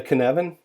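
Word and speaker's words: Cynefin: even chaos and Anarchy the cannon even though it's spelled cinnamon it's a Scottish word Dave Snowden came up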